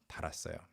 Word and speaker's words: 달았어요: But once it's conjugated into the present tense, past tense forms, the long vowel disappears. 달았어요. It's the same pronunciation. It's a very irregular kind of thing. With other vowels or other words, it sustains the long vowel, but this one is a really unique example.